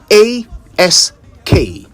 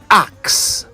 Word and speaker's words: ask: A s k. The proper pronunciation of that word is ask, not axe.